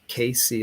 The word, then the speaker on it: CACI: the civil jury instructions c a c i k c is the way they pronounce it and there's going to